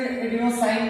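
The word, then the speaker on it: adenosine: जिसको नहीं पता है वो लिख लेगा एडिनोसिन, या कुछ इसमें एडिनोसाइन भी बोलते हो, वो प्रोनाउंसिएशन है, एडिनोसिन ट्राइफॉस्फेट।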